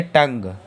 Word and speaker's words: tongue: TONGUE में आखिरी में GUE आ रहा तो GUE अगर आ रहा तो UE हम लोगों का साइलेंट होगा। अगर UE साइलेंट होगा तो इसे क्या पढ़ेंगे? टंग, क्या पढ़ेंगे?